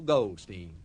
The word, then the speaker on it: Goldstein: Her name, believe it or not, is Mary Bell Goldstein. Steen to rhyme with mean rather than Stein to rhyme with Epstein.